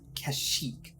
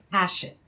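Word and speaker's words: Kashyyyk: a lot um because this game of course uses the cannotic pronunciation of kashyyk right but if you are of a certain age um I.E me you grow up before episode three come came out calling it hash it because like the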